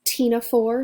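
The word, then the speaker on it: Ctenophora: have comb jellies their file a name is Tina for so again the sea of silent we have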